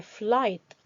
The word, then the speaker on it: flight: third are pronounced as the letters gh in flight are silent the letters ch in